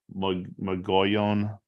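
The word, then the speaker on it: Mogollon: stuff so um 441 I think how they say it is m-o-g-o-l-l-o-n magoyan Rim how do you say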